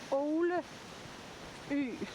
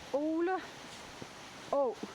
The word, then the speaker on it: Øle Å: But it's actually interesting because the stream, which is called Øle Å, or Øle Å, sorry, I pronounced it the wrong way around. I always get my Danish vowels mixed up. So it's Øle Å, and Øle is a